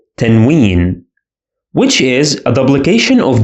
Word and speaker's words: tanween: This is called tanween. And it is pronounced as a consonant na sound.